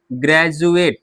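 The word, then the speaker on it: graduate: ग्रेजुएट।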